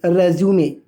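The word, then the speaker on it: résumé: समझिएगा फ्रेंड्स, जब भी आप इस वर्ड को नाउन की तरह यूज़ कर रहे हैं तब आप इसको प्रोनाउंस करने का काम करेंगे रेज्यूमे।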